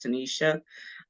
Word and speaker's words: Tenita: Olivia um I am Tanisha a lot of people know me as Tanisha or tanita bestseller it is spelled like tanita but it's pronounced Tanisha um I am a